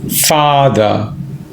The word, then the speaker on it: father: and my father mother father pronunciation is very important it's mother father far is Long mother it's short so four of us this